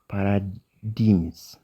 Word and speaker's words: paradigms: The Middle East geopolitical paradigms. Jiin kun asitti silentidha. Paradigms jettanii dubbiftan jechuudha. Paradigms. Middle East geopolitical paradigms. G is silent on here.